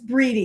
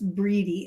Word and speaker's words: Bride: It's Breedy. It looks like Bride, but it's Breedy is how you say her name.